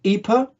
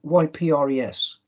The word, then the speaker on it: Ypres: it looked quite different this town is called ipa by the people who live there who speak dutch flemish on the map it's spelt in french if you're a british soldier and you don't do foreign languages in 1914 at school what do you make out of why why pres there's only one answer